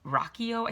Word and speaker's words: Ruocchio: And we did an interview back in early October with an author named Christopher Ruocchio. I think I'm pronouncing his name right. It's spelled Ruocchio, I believe.